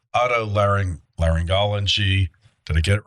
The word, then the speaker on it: otolaryngology: I'm not going to try to pronounce that. I believe it's otolaryngology.